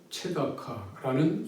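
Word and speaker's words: צְדָקָה: 정의는 미스파트, 포악은 미스파 이렇게 발음이 됩니다. 비슷하죠? 또 공의의 체다카라는 이 언어, 이 표현은 이 부르짖음, 체아카, 체다카,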